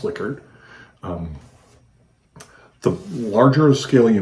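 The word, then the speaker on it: Likert: instruments that use Liquid scales and it is pronounced liquored um the larger scale you make the less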